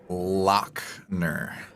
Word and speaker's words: Lachner: lachner is that the right way of pronouncing it it is lockner um i've been so desensitized to that i'm